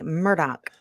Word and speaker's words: Murdaugh: well yes Catherine it's it's phonetically murdaugh but pronounced as clay should know because he's Scottish as in my Murdoch well see I thought